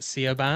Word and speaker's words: Siobhan: Oh, well, Just, I Shane, imagine these guys seeing the name Quiva, like trying to get that out and or how Siobhan. it's spelled.